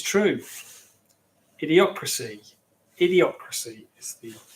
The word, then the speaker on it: Idiocracy: Idiocracy is the pronunciation I was looking for.